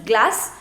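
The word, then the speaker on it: glace: the correct pronunciation is glass which means ice cream now if after c you have e then the pronunciation is already so so it is glass you are not going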